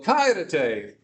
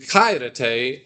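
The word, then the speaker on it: χαίρετε: So why am I saying kairete and not kairete? Anyone remember? Right? Yeah. The accent is on the first one. Remember, it's leviosa, not leviosa, right? Anyone get the... So it's kairete. So kairete, not kairete, because of the accent.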